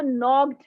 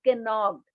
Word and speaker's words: knocked: बेटा देखो, नॉक, नॉक में के साइलेंट है, के इज साइलेंट। एन हम नॉक के नॉक नहीं पढ़ रहे हैं, KNOCKED। आपने इसको नॉक्ड पढ़ना है। You have to read नॉक्ड, नॉट कैनॉक्ड। के इज अ साइलेंट। बहुत से वर्ड्स होते हैं, जैसे नाइफ, KNIFE, नाइफ। तो उसमें के क्या है? साइलेंट है।